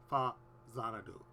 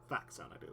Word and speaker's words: Faxanadu: That's how it's pronounced in Japanese. It's Fazanadu. And how it's pronounced is with a Z, so it's Fazanadu. Not Faxanadu.